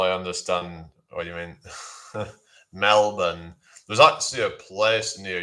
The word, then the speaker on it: Melbourne: I know you should pronounce it Melbourne, like it's spelled MELBEN or something like that. Melbourne, or well, or Mel or MELBUN or something like that. Melbourne. It's like you don't really say the R in it.